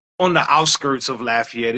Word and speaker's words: Lafayette: You don't want to mispronounce it. I'm from. I was born and raised in Lafayette, Louisiana.